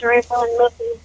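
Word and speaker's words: Rayvon: My name is Raven. Could you spell that?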